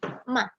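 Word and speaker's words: 吗: Dan nada datar atau nada 5, biasa kita sebut dengan nada 5, itu bacanya dengan sekilas saja. Ma, kata bantu bertanya ini sebenarnya.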